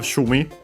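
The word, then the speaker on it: 趣味: after it we have shumi uh Chinese compound should be accent on the first mora it is uh it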